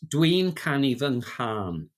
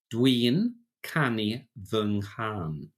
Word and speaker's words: Dwi'n canu fy nghân: So it's Dwi'n canu fy nghân. Dwi'n canu fy nghân. I'm singing my song. And there's what's called a nasal mutation in there.